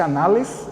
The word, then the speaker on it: Annales: Escreve-se Annales, mas o francês pronuncia-se Annales, né?